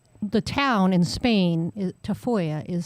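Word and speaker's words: Tafalla: You know, the the town in Spain is Tafoya is spelled T A F A L L A. But I don't know who decided double L's are usually a Y sound.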